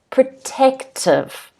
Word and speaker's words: protective: at home protective okay the stress is on the second syllable as you can see with a phonetic spelling in blue there's an apostrophe on the second syllable that is protective protective it is intended